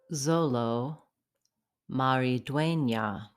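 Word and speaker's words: Xolo Maridueña: you because my Spanish sucks sorry how to pronounce yeah Zolo Marie duena this guy has chops he's gonna be a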